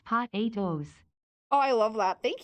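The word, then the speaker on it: Pot8o's: The best horse name is still Patu, pronounced Pot 8 O's.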